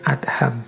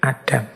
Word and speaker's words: Adham: Syekh Ibrahim Bin adham membacanya memang bin adham bukan bin Adam nama lengkap beliau Ibrahim